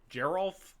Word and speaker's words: Geralf: a little bit and Geral is hard G hard G is the G sound soft G is a j sound man I'm it's GNA